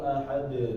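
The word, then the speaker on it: أَحَد: Ketika misalnya qul huwallahu ahad, panjang banget ya.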